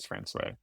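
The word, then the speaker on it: François: And people in France, France, so they pronounce it France.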